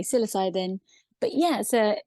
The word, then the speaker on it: psilocybin: how you pronounce It in America they say psilocybin in the UK they say siloc cybin but I tend to say psilocybin but yeah so it's